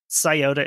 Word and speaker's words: Scioto: West Virginia River Front also a spelling note scota is spelled s c IO t o it's the